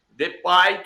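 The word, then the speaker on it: Depay: Por causa do pai deai ou deay deai que é assim que se pronuncia que a gente aprendeu a pronunciar depai então assim tem um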